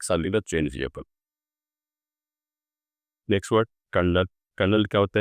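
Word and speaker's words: Colonel: Next word कर्नल।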